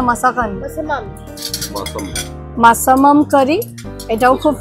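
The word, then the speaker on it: Massaman: ভেতরে আছে আর আমরা নিয়েছি একটা কিনেছি কি প্রোনাউন্সিয়েশনটা ছিল মাসাকান মাসাবান না মাসাকান মাসামাম মাসাম মাসামাম কারি এটাও খুব ফেমাস আর এটা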